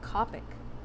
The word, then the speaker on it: Copic: with you Maru oh Copic I only remember how it's pronounced because it has the word cope in it and like you're trying